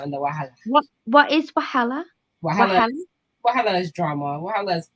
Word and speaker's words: wahala: What is wahala? Wahala is drama. Wahala is problems. Wahala. Can you spell that for me?